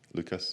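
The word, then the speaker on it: Łukasz: my presentation and so my name is lukash um everybody just call me Lucas because it's just easier for the English to to pronounce um and I'll be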